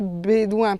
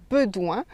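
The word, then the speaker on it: Bédoin: Et on prononce bédouin parce qu'il y a un accent, mais les natifs savent qu'à l'origine, on devait dire bedouin.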